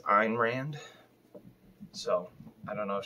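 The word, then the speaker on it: Ayn Rand: did get a lot on ebay for a ein rand i think that's how you pronounce it i've always said ann rand because i'm a uh imbecile from uh buffalo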